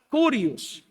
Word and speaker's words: Kyrios: Porque la palabra que aparece ahí, Señor, Señor, no la voy a pronunciar bien, pero es como la palabra Kyrios.